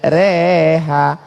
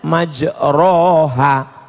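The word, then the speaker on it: مَجْرَاهَا: email lah bismillah imaje reha tulisannya majroha Tapi bacanya miring Bismillahirrohmanirrohim reha namanya Imam Al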